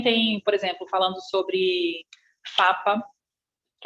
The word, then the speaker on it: PFAPA: sobre isso, e depois, ele é PFAPA, mas não se pronuncia o primeiro P.